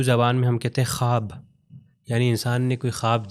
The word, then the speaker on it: خواب: تو ہو جائے گا خواب، مگر یہاں پر ہم واو کا تلفظ نہیں کرتے، ہو جاتا ہے خواب، یعنی لکھا جائے گا،